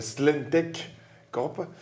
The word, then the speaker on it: Slentech Corp: sommes très heureux alors c'est vrai que l'orthographe et la prononciation du nom est un peu compliqué c'est vrai je vous l'accorde c'est slentech corp donc gross modo nous